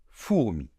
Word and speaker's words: fourmi: a parlé avant, et les lettres O plus U forment le digramme, c'est-à-dire un son, voyelle, qui s'entend ainsi. OU, d'accord? Donc en français, pour former le son très commun OU, comme dans boot en anglais, eh bien, nous avons besoin de 2 lettres, O et U.